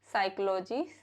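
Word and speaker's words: psychology: कब साइलेंट रहता है पी is usually silent in the letter combination of पीएस पीटी एंड PN used at the beginning of words जैसे साइकोलॉजी साइकोसिस साइकोथेरेपी psychiatrist सोनिम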